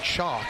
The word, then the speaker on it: Chock: Spell that for me. Chalk, C-H-O-C-K. That's the man's first name. Like chock-a-noodle soup.